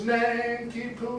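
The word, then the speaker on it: Nanki-Poo: the point here is we can tell what gilbert thought was the way this name is pronounced by the rhythm that he sets it to and that solomon does tis nankipoo is not to snanky they have told us how it should be done now this only works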